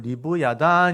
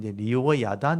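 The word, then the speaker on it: לִוְיָתָן: 원래 발음 은 " 리비아탄 " 이지만 , 과거 에는 이 " 와우 " 부분 이 " 와우 " 또는 " 바브 " 로 발음 되는 경우 도 있었습니다 . 그래서 그것 은 " 리비아탄 " 이지만 , 성경 에는 " 레비아탄 " 으로 기록 되어 있습니다 .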